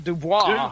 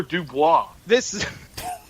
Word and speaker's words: Dubois: Christopher Dubois. It's not Du Bois? Wait a second.